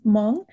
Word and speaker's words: Hmong: And so it's Hmong. It's the H is silent, so you can just yeah,